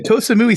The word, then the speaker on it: Koh Samui: I was going to I say always Koh Samui sounded right to me.